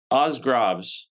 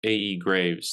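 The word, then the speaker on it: aes grave: Oz Osgrobs, right? But I always Yeah. call them AE Graves. That's how I say it.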